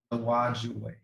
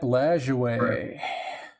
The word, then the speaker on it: Lajoie: Okay, let's go to the T206 Nap Lawajue. Not sure if I pronounced. Nap Lajoie.